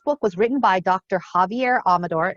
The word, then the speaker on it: Xavier: was written by dr javier amador i know it says xavier but he pronounces his javier and he um had